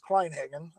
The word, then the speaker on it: Kleinhagen: got into rc well the last name is kleinhagen uh and um let's see i got into